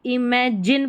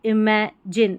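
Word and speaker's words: imagine: के आते हैं तो इमेजिन पढ़ेंगे ना कि जाइन तो इमेजिन इमेजिन a stew S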